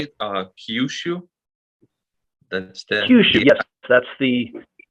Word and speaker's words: Kyushu: Kyushu.